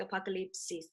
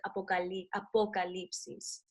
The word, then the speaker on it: apocalipsis: It's like apocalypse with an extra "is" at the end. So it's like eclipse, so the apocalypse is. But you gotta kind of like pronounce the O with the vowels, the Spanish vowels.